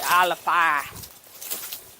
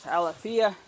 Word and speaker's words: Alafia: previous channels for alifia the local pronunciation for it is actually aleppa i've heard some people mispronounce it as alafia but technically it's of